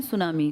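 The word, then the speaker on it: tsunami: कर रहा हूं ना सुनामी जापानी भाषा का शब्द है जिसमें टी साइलेंट लिखते हैं ऐसे बोलते लिखते हैं टी सुनामी बोलते हैं सुनामी।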